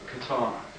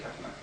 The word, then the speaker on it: katana: It's actually, most people pronounce it katana, but that's the Western pronounce, English pronunciation. The Japanese would say katana.